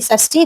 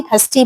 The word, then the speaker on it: षष्ठी: अब है खष्टि विभक्ति षष्ठी खष्टि भी बोलते ख का उच्चारण करते सा का।